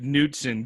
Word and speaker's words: Knudsen: all well uh yeah my name is newton k-n-u-d-s-e-n so that's good good luck going through